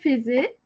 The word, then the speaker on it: faisais: Euh je faisais madame. Oui, commence. Je faisais faisais donc avec I et faites attention pour faire donc avec faire on écrit i et on prononce e.